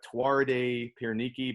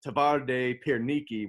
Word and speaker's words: Twarde Pierniki: pronunciation it looks like tuarde piernicki but the w's are v's so they pronounce it tavarde pierniki which translates to hard